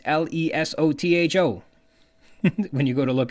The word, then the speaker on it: Lesotho: Lesotho, and it's spelled L-E-S-O-T-H-O, which I interpret as Lesotho, but that's not quite right. It's an African nation, and so is pronounced with an African dialect, which Junior Ryan didn't